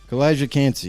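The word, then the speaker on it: Calijah Kancey: I don't even know how to pronounce that either. What is that, Kalijah? Kalijah Cansey.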